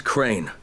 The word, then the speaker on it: Crane: store no my name's crane crane crane rhymes with train and brain and S and Grain and rain and plane and the other kind of plane and and but can